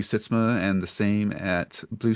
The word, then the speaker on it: Sytsma: Sitzma and the same at Blue Sky, and that's SYTSMA, because I know most people want to spell it SYSTMA, but it's not.